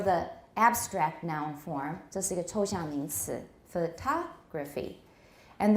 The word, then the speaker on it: photographic: form means photography and then we find the stress goes even further right for the adjective form photographic a photographic memory but this is this picture looks photographic you could say maybe so photograph photography photographic they all have the same root right they all have the same stem photograph but we see the stress moving when it becomes a different part of speech but what class of